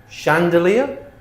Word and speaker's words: chandelier: So they're spelled ch, but we pronounce them sh. Okay? Chef, chalet, machine, brochure, parachute, chaperone, chandelier, crochet, quiche.